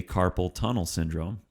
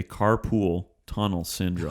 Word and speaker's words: carpal tunnel syndrome: go with the flow do say carpal tunnel syndrome don't say carpool tunnel syndrome okay carpool tunnel syndrome